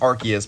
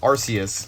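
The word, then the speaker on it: Arceus: Legends archus came out Pokemon Center has said no it's pronounced archus but everybody said arus for however long and I I ended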